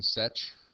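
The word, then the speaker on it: sech: hardly ever use it a lot of people do pronounce this one such which is 1 over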